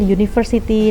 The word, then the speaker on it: university: Ketika ada vowel u, huruf vokal u itu kan dibacanya u ya, u, ada huruf y di situ. Berarti ngomongnya utensil, university.